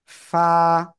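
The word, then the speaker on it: ف: করেন না এই যে নিচের ঠোঁটের পেট উপরের দুই দাঁতের আগার সাথে লাগাবেন লাগিয়ে হালকা বাতাস বের করে এক আলিফ টা নিয়ে উচ্চারণ করতে হবে এই যে এরকম এরকম ফা এই যে ফা ফা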